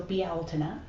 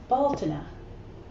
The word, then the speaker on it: Beltane: Anyway, and the first pronunciation is Beltane, which I like because it has the word owl in it, and that makes me happy. So Beltane, or Baltane.